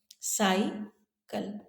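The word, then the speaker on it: cycle: शब्द दो सिलेबल है साईकल इस स्थिति में पहले सिलेबल के बाद में कोई कंसोनेंट नहीं है यह खत्म हो रहा है वाई पर तो यह ओपन सिलेबल होने की वजह से हम सी के जगह हम इसका उच्चारण करेंगे साई ओपन सिलेबल में हम लॉन्ग आई का उच्चारण करते हैं अब समझते हैं शॉर्ट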